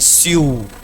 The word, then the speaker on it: sue: English थोड़ी विचित्र भाषा है, लिखा कुछ और जाता है, पढ़ा कुछ और जाता है। आपके हिसाब से मुझे उसको प्रोनाउंस करना चाहिए, प्रोनाउंसिएशन होना चाहिए स्यू, ठीक है, बट लोग जनरली क्या बोलते हैं उसको, सू।